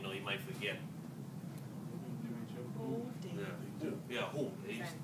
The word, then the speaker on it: Hu: Yeah, Hu. W-H-O, Hu.